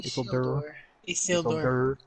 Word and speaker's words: Isildur: After Isildur, is that how you say his name? Isildur.